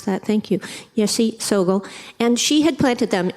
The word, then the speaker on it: Yeshe Tsogyal: I always mispronounce that, thank you, Yeshe Tsogyal.